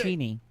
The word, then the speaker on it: Cheney: Cheney.